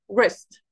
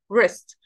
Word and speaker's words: wrist: طبعا هنا كمان ال w ال w silent we don't pronounce it so we start from the r sound wrist wrist.